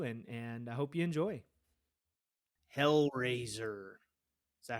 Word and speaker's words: HellRazor: HellRazor.